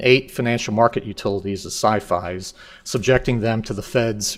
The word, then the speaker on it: SIFI: I would argue that a more accurate and appropriate pronunciation rhymes with Hi-Fi and Wi-Fi so thus sci-fi um and it has